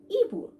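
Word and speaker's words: ibu: ইবু, অর্থাৎ আমাদের মা, mother. ইবু, ই আই বি ইউ, ইবু, okay? So এখানে লাস্টের উচ্চারণটা হচ্ছে বু। ইউ, ফুড, উ, অর্থাৎ ইউ এর উচ্চারণ সবসময় হবে উ, ইবু।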